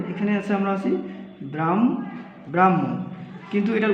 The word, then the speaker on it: ব্রাহ্মণ: হবে তারপরে হটা হচ্ছে উচ্চারণের ক্ষেত্রে আগে ম তারপরে হ যেমন আমরা উদাহরণ যদি নেই ধরেন এখানে আছে আমরা আছি ব্রাহ্ম ব্রাহ্মণ কিন্তু এটার উচ্চারণ হবে কি উচ্চারণ হবে ব্রাহ্ম হুন অর্থাৎ কি পরিবর্তনটা হইলো